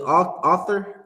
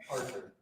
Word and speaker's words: Arthur: see that Meme with author is that how you say his name author and he's balling up his fist that's Christ right now in heaven Arthur AR Arthur that's how you say it right yeah he B that's